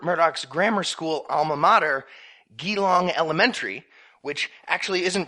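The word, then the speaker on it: Geelong: Kitty puts it quote Think Jesus or giraffe but without the stresses end quote soong Elementary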